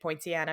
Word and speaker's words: Poinciana: says Poinciana Florida I think that's how you say it Poinciana because it's like poinsettia right Point yeah I